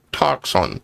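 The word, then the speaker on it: τόξον: B as defined G5115 in the Strong's concordance Greek 5115 is toxon pronounced toxon toxin.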